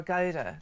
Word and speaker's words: Gouda: Yeah, or Gouda, as it's normally pronounced. Gouda, I think.